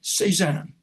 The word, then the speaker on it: C-SAAHN: Just go into their search at Internet Archive and put in the acronym for the center, C-SAAHN, which I pronounce C-SAAHN. So you can remember it easier.